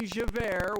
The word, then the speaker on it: Javert: one that would be javert which is j-a-v-e-r-t and is already pronounced as air you know two former